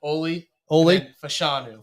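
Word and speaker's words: Olu Fashanu: again you just wash the first name say oie fashanu fashanu Okay oie fanu heck heck of a brute you Western PA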